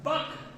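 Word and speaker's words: bulk: दूसरा बक, लिखे गया है बल्क, लेकिन यहाँ एल साइलेंट हो जाता है, बट मॉडुलस ऑफ प्लास्टिसिटी, और तीसरा है मॉडुलस ऑफ रिजिडिटी, हिंदी बोला तो दृढ़ता गुना।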